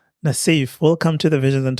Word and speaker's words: Nasif: What's the pronunciation? Nasif.